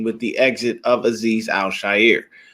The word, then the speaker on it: Al-Shaair: And that is how you say his name, people. Is not Al-Shaair. I don't know why everybody keeps saying Al-Shaair. It's probably the easier way to pronounce it, but it is Al-Shaair.